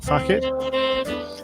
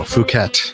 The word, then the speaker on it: Phuket: By the way, how do you pronounce this place in Malaysia? Is it Phuket? No, Phuket.